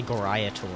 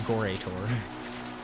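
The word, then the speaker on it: Gorae Torr: So I hear people say Goraya Tor, and I'm like, huh? It's obviously Gore Tor.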